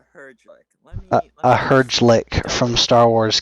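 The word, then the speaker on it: Herglic: believe it is pronounced Herjlik.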